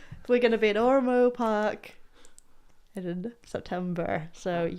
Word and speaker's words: Ormeau: Ormeau, yeah.